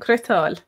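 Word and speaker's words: cniotáil: I'd be more inclined to say crook and crital.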